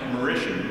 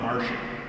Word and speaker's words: Mauritian: And by the way, it's pronounced Mauritian, not Martian.